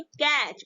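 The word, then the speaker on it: catch: blue colour से ये आपका तीज होता है साइलेंट राहत है और इसको प्रनंसीएशन नहीं करते इसको हम बोलेंगे कैच उसके बाद एम ए टी हा मैच उसके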